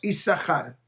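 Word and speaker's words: יששכר: Isahar se escribe con 2 sin. Quiere decir, yo puedo separar la palabra Isahar que diga Yesh Sehar. Hay compensación. De acuerdo a nuestra tradición, decimos Isahar. No mencionamos doble sin.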